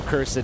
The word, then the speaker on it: cursed: I love the two syllable cursed, Marion.